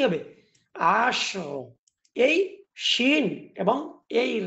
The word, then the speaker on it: عشر: কিন্তু এই জায়গার মধ্যে আপনাকে শিন এবং রা উভয়টাকে একসঙ্গে ধরতে পারবেন। কেননা এই শিনের মধ্যে কিন্তু কলকলা নাই। তাহলে এর সঠিক উচ্চারণ হচ্ছে আশর, আশর।